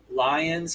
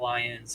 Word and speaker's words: Lyon: Lyons, I think, is probably just like an hour and a half. And actually, it's not Lyons, it's Lyon, but I always say it wrong.